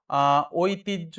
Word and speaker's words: ঐতিহ্য: ঐতিহ্যের সঠিক উচ্চারণ হবে ওই, আহ তি, আর এই যে যে জিনিসটা এটা জয় হস ঝ, এটা ওকার, ঐতিহ্য।